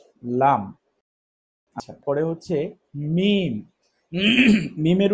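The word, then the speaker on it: ميم: মিমের উচ্চারণ খুবই সহজ, আমরা ইতিপূর্বে পড়েছি বা। বা যেখান থেকে, মিম সেখান থেকে। মিম মিম বাংলাতে আমরা ম উচ্চারণ করে থাকি, মিম দেখা যাচ্ছে না?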